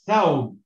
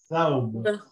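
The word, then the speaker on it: ثوب: Here it is thawb. Why? Because you have the first letter here with a fatha, so it's a tha, and then second letter is a waw, and it's got the silent sound, so it's thaw, and the last letter has got no sign, so it's thawb.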